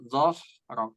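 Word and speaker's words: ظهرك: Kalau dho itu lidahnya agak keluar sedikit.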